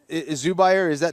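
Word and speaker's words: Zubaira: That is a tough situation because again, Zubair, that's his name. That's how you pronounce.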